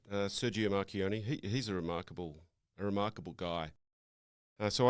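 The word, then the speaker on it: Marchionne: Is that the best way to pronounce it? Yeah, that's right. Sergio Marchioni.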